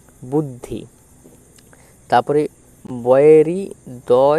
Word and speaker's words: বদ্ধ: দেখো ব দ বদ্ধ ব দ বদ্ধ ব এর সাথে দ উচ্চারিত হবে বদ আরধ ধ হচ্ছে আলাদাভাবে উচ্চারিত হবে বদ্ধ।